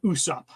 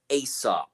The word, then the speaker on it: Usopp: pirate uh great pirate Captain Usopp yes yes yes or as they kept pronouncing him asop really yeah that's I I was hearing asop so and there are